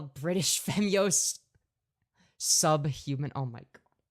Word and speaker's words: Femyoz: Or sorry, not Femyoz. He thinks my name is pronounced Femboys.